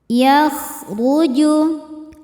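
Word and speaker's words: يَخْرُجُ: Yakhruju. Huruf ra dibaca secara tafkhim karena berharakat di atas yaitu dhommah. Cara bacanya ra dibaca tebal.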